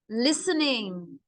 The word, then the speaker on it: listening: They love listening. The T is silent.